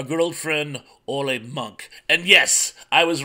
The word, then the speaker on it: Munch: old friend all a monk and yes I was right they do pronounce it with that hard C Sound not the Munch although people love to say Munch for some reason but